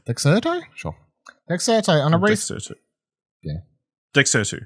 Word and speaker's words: Dexerto: Dexerto. It's one of those things I know the website, but I've never had to say the name. Dexerto. Dexerto? Sure. Dexerto on a Dexerto.